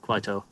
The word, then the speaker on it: Kwaito: Oh, it is like how I said it, Kwaito, and it's a style of South African music.